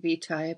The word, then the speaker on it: Vitae: You know, where did Ars Vitae begin? And am I pronouncing it right? Yeah, you can pronounce it that way. I say Vitae, but it really is fine.